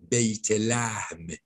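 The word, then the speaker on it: بیت‌لحم: Well, you see, again, you know, when we say in Farsi, we pronounce it as Beit Lahm. It's in Arabic.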